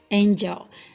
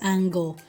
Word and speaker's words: angel: germ general generous germinate angel now this particular word some people mispronounce it as angle or maybe when they spell it the spiritus angle which is very wrong please the e has